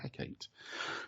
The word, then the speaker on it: Hecate: Now, Hecate is an unusual pronunciation. It's usually Hecate.